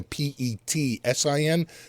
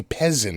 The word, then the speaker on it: Pezzin: It's Pezzin, though sometimes that's pronounced, he's from Italy. It's pronounced like a Petsin. It wouldn't be Pezzin.